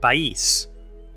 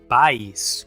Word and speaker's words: País: "País": we do not pronounce "pais", as if it had a diphthong, but we say "pa-ís", marking two syllables.